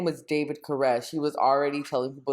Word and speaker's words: Koresh: cyrus which is spelled which is spelled like caress gotcha and now that